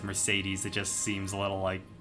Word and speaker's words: Mercedes: Isn't Mercedes from Spanish origin? So it would be Mercedes. Yeah, I mean, so I guess it is pronounced right. It's just I'm used to hearing it as Mercedes.